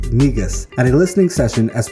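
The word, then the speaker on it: Negus: present in march 2019 he deputy's latest album pronounced migus at a listening session as part of art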